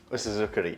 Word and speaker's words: usuzukuri: Osuzukuri.